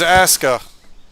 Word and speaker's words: ASKA: This is Asuka. It's spelled ASKA.